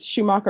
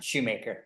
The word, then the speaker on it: Schumacher: Is it Schumacher or Shoemaker? Shoemaker. All right, you're Mr. Shoemaker.